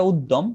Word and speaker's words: উদ্যম: উচ্চারণগত ভাবে এটা উদ্যম, কিন্তু ভাঙলে হবে উত প্লাস জম, কারণ জফলাটা জ হয়ে গেছে, কিন্তু উচ্চারণের সময় তো জফলা দ উচ্চারণ হয়।